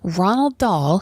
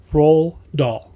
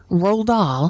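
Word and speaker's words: Roald Dahl: a look online and it appears Fanta cysts Ronald doll who of course wrote Charlie and the Chocolate Factory it's actually pronounced and I'm not joking roll doll roll aah why why did they see Ronald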